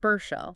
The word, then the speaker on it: Burchell: Ricky Burchil, the cultural architect, pronounced Bershell.